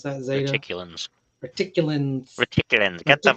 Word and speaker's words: Reticulans: I think that's how you pronounce that. Zeta. Reticulans.